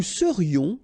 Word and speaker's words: serions: Nous serions, final S not pronounced.